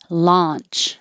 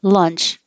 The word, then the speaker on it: launch: vests vests launch and the vowel is ah like hot so you have to open ah and keep your lips straight up and down and you have to open enough that you can see your tongue so when you're practicing this check the webcam and see can you see your tongue if you say lunch it's going to sound like let's go to lunch and eat excuse me